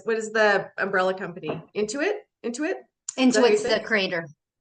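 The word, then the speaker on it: Intuit: shows up then in your account statement as into it am I saying it right into it yeah into it I'm into it yes we are but yeah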